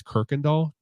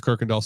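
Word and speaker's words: Kuykendall: I'm pretty sure it's Kirkendall it's just it's spelled like KU Kendall k-u-y then Kindle so but I'm pretty sure it's kirkendahl Stadium formerly known as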